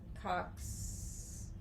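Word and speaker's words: Yum Kaax: I'm gonna It's say YUM space KAAX. So you pronounce that at your leisure. I'm gonna say Cox.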